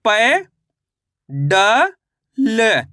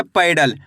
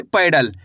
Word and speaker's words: पैडल: प में आई की मात्रा पै ड ल। तो मिलके बन जाएगा पैडल। कैसे पढ़ेंगे? पैडल। आपको इसी तरीके से उच्चारण करना है। पैडल पेडल नहीं पढ़ना। पैडल ऐ करके उच्चारण निकालना है।